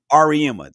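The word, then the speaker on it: Auriemma: I can never pronounce his last name from UConn. Ariema? Ariema.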